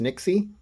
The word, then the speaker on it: Nyxie: got the best tech I think it's pronounced Nixie but I don't know yeah I I'll put